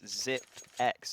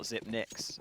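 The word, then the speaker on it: Xyp9x: I remember when I found out that it's ZipX and not ZipNix.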